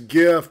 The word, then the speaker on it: GIF: at did you say jiff yes I did hold on will you will you repeat that actually it's uh it's technically it's a gift because it's a hard G graphics right yes I think